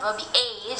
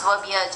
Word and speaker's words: verbiage: be a word verb it's not verb age it's verbiage it's wording basically sharing